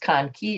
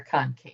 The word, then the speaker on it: conchae: So it can be pronounced conque or concave, I guess.